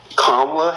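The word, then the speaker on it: Kamala: her name is KLA can you try to pronounce her name right kamla Harris KLA see it's not that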